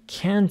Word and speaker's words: can't: of can and can't I told you that the first one doesn't carry any stress we say I can play the piano but this one has a stress I can't sing at all in the second listening